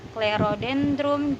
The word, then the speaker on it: Clerodendrum: Di sini ada dua huruf C yang bertemu dengan huruf mati dan dibaca dengan huruf K, Clerodendrum japonicum.